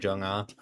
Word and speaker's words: Jung-ah: That's how like her name is pronounced in the Stonescape translation, Jung-ah, like Park Jung-ah.